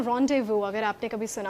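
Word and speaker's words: rendezvous: उस वर्ड को हम बोलते हैं रोंडेवू। अगर आपने कभी सुना हो तो। सो रोंडेवू। रोंडेव। यस। तो उसका उसकी जो स्पेलिंग है इट इज आर इ एन डी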